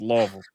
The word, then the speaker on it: Louisville: Sorry, you got to say it like if you're saying it right, you got to say it like you have marbles in your mouth. It's Louisville.